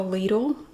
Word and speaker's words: Lidl: lidl near you and it is pronounced lethal in the usa i always have to say that i did confirm that if you like bagels and you have a ladle try their bagels if